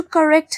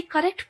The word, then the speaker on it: correct: And they would have to करेक्ट his mistakes. ये जो word है देखो CORRECT, इसको कोई बच्चा कोरेक्ट नहीं बोलेगा. इसकी करेक्ट प्रोनाउंसिएशन है करेक्ट.